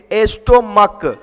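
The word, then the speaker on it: stomach: चलिए तो अब देखो बच्चे एस्टोमक एस्टोमक लास्ट में सीएच है कि नहीं है?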